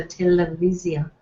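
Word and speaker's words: טלוויזיה: Actually, there, if it's a longer word, it does shift. So televisia. So viz, televisia.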